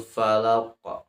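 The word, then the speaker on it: الفلق: Bacanya qul a'udzu birabbil falaq. Nah, falaknya, lamnya tidak boleh dibaca panjang karena tidak dua harkat, tapi di situ ada satu harokat.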